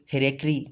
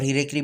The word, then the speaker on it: hierarchy: In Pakistan, as brought out earlier, the linguistic hierarchy or hierarchy, both you can pronounce, is as follows: English, Urdu, and local languages in the northwest frontier post, NWFP or Khyber Pakhtunkhwa and Sindh.